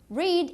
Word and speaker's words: read: Read is irregular. What is the past of it? Good, it's read. Read. The same spelling but different pronunciation.